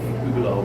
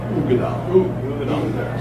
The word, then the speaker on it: Uigeadail: So that's the origin of the word Uigeadail, and it's spelled, rather curiously UIG, but it's Uigeadail. You gotta remember that with Uigeadail, not Uigeadail, which I'm guilty of saying.